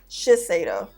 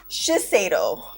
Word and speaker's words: Shiseido: It's Shiseido, right? Shiseido. Shiseido. Okay, that's how you pronounce it.